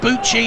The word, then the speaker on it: Bucci: Like Gucci, but Bucci is the goalkeeper. That's how we were told to pronounce it by the Italian journalist from Gazzetta dello Sportivo.